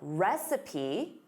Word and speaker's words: recipe: Now, recipe. Repeat after me. Recipe, recipe, receipt, recipe. So notice receipt, you have the word seat in it. Receipt, recipe. Recipe, of course, is instructions for preparing food.